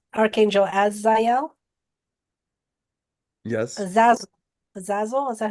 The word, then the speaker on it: Zazel: AEL as as Archangel as zel yes zaz zazel is that how you say it a z a z- l zazel yeah zazel and then Raphael as well was